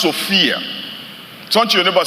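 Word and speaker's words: σοφία: You know, the word wisdom in this verse, it comes from a Greek word that is pronounced Sophia.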